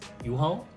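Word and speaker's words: UHAL: called americo a-m-e-r-c-o um ticker symbol is u-h-a-l so if you actually pronounce that it's u-haul and you can guess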